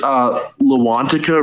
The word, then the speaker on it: Loantaka: It's Loantica Records, spelled Loantaka. It's often mispronounced, but it's my record